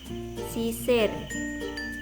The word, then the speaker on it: sisir: Nah, untuk vokal ini ucapan I menyerupai vokal E dan biasanya yang dibaca miring bagian vokal yang akhir. Lambang ejaan untuk vokal I miring yang kita pakai adalah I besar. Contoh dalam bahasa Jawa, yang pertama itu sisir, sisir.